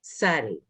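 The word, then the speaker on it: צדי: So on page 29, it's Tzadi. TZ is a combination that doesn't exist in English, but we know lots of words that are TZ.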